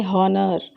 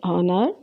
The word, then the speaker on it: honor: use a consonant but when we pronounce it we never pronounce the full sound of H so we never use